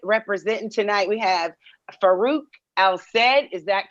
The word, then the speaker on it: Al-Said: We have Farooq Al-Said. Is that correct? Did I say it right? Outside. Al-Said.